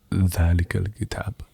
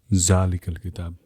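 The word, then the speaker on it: ذٰلِكَ الْكِتَابُ: because the biggest pet peeve of mine, okay, is not pronouncing things correctly, like Quranic stuff, right? Yeah. And so, like Alif Lam Mim, Dhalikal Kitab, not Zalikal Kitab, right?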